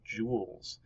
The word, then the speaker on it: joule: And it's right here, and it's pronounced joules. Kind of like jewels, like a pirate would have in his pirate chest, but not obviously written the same way because it was someone's name, right?